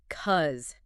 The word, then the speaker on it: because: It almost always reduces to cuz. The initial B syllable disappears completely, and the vowel in the cause part is often reduced rapidly to a schwa or something very close to it right before the final Z sound.